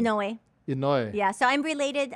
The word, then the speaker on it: Inoue: How do you pronounce your last name? Inoue.